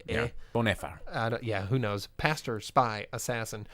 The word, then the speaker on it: Bonhoeffer: I'm going to say, Bonhoeffer, because the OE in German is he. Right? Yeah. Bonhoeffer.